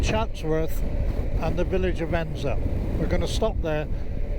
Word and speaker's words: Edensor: route ends are spent spelled Eden saw that's pronounced Enzo for someone no reason so there's the turning